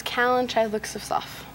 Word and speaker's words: Callan Chythlook-Sifsof: My name is Callan Chythlook-Sifsof.